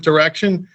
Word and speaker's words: Direxion: plus years ago at direction I called it direction also. So they liked me a lot and said if you're going to get the job you got to pronounce the firm name right.